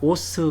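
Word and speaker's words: ус: 알파벳의 섰으니 발음을 하죠 그런데 5 발음 나고 져 씨는 ss 바로 만나니까 오스 가 됩니다 웃음 그래서 몽골에서 오수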